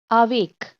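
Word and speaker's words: avec: आवेक, आवेक, क को यहाँ प्रोनाउंस किया, सी को।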